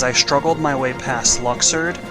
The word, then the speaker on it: Luxord: struggled my way past Luxord. Yes, I call him Luxord. Now I know that they pronounce his name Luxord, but I think Luxord just sounds a lot cooler.